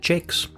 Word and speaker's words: Jacques: Oh, he pronounces it Jakes.